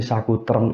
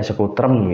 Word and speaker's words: Sekutrem: ada yang nyebut Sekutrem, ada yang nyebut Sakutrem, ada yang menyebut Satrutem. Nah, itu ya monggo pelafalannya. Yang paling mudah dilafalkan ya Sekutrem gitu. Itu umum di bahasa pedalangan yang sering saya dengar seperti itu.